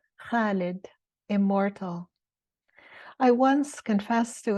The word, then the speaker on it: Khalid: Even my 8-year-old could constrict her throat muscles the right way to say Khalid, immortal like an ancient olive tree, a flame that never abates.